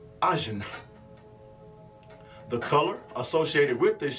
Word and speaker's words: ajna: The Sanskrit word is pronounced ajna.